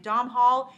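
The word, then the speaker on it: Domhnall: has uh domol I think that's how you pronounce his name Dom Hall uh Gleason from about time and I watched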